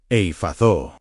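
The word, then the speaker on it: Ephphatha: The first word is pronounced effata.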